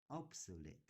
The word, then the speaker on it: obsolete: uh something that is obsolete obsolete obsolete obsolete right OBS yeah the third syllable is the emphasis on